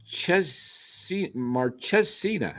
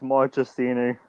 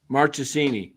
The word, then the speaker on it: Marchesini: I'll save you the trouble. It's Marchesini. Marchesini.